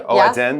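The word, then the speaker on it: 蚵仔煎: She's got her, how do you say, oajin? Oh, oazen, right? Yeah, oazen, there you go.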